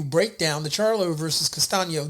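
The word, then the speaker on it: Castaño: Geral Charlo versus Brian Castillo. Castano and or Castano. That's how you say his name.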